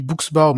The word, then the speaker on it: Buchsbaum: me trouverez sur LinkedIn c'est Booksbor. Alors mon nom de famille c'est un nom de famille germanique s'écrit BU CH S B A U.